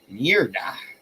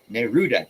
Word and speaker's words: Neruda: Don't Go Far Off by Pablo Neruda. Neruda. No, it's Neruda.